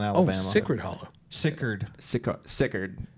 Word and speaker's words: Sicard: Sickard. Like A lot of people ask you guys that, don't you? Everyone, Sickard Hollow, but we say it like it from Alabama. Sickard.